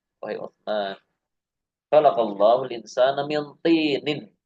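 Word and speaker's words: مِنْ طِينٍ: Ya, ini cara bacanya seperti ini, Mbak ya. Min tinin. Ya. Karena dia enggak ada alifnya, enggak ada alnya apa? Kalau minat ini dia tidak tanwin, tapi kalau min tinin dia tanwin.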